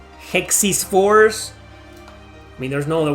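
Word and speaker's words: Hexyz Force: It's called Hexis Force. It is pronounced Hexis Force.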